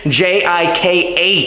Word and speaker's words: Jikh: All right, so If you have not yet, make sure to subscribe to Andrei Jikh, Jikh. it's the first time someone's pronounced my name right.